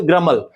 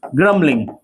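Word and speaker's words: grumble: इसको हम इंग्लिश में बोलेंगे ग्रमल। तो ही इज ग्रबलिंग। कई लोग इसको ग्रंबल बोलते हैं। ग्रंबल नहीं बोल के इसको ग्रम ग्रमल बोलेंगे। बी हमेशा साइलेंट होता है।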